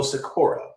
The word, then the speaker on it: Sykora: I am talking about Joe Sykora. Did I pronounce that right, Joe?